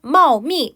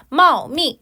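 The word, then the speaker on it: 茂密: 잠시가 피크 그다음 표현 마미 발음 주의해 주세요 여러분들 마미라 발음이 되면 요때는 새끼 고양이를 나타내게 되고요 그거 말고요 지금 몇 성이에요 마오미 4성이 여러분들 자 마오미 같은 경우는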